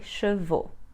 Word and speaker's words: chevaux: The singular ends in AL and the plural in AUX, so we will pronounce AL, al, and AUX, o.